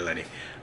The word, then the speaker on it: Lenny: She plays a character called Lenny, or is it Lonnie? No, it's Lenny. Yeah, it's definitely Lenny.